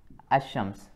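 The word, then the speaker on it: الشمس: from these two words ashrams and Al pamar right so in assam's the lamb is not pronounced the name is not pronounced or red it is directly ashrams this way right and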